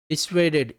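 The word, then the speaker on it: dissuaded: Antonyms की बात करें तो डिटर्ड, डिस्करेज्ड, है ना, डिसवेडेड। देखो, DISSU है, बट हम इसको प्रोनाउंस W करेंगे, डिसवेडेड, डिसवेडेड।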